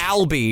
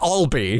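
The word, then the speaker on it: Albee: inspired him and then pronounces his name wrong they call him Matt Albi the entirety of the show and it's Matt Alby his name is Edward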